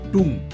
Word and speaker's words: tomb: Not pronounced as tome, it's pronounced as tomb.